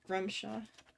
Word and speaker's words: Grumshaw: Grumshaw. Let me get his name in there. I've been saying it wrong. Grumshaw. You have a spell book which we can sell or Yeah.